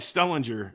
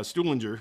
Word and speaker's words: Stuhlinger: how to pronounce it i say i say stu linger yeah that's kind of that's